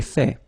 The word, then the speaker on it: fait: So remember, final T is not pronounced. J'ai fait.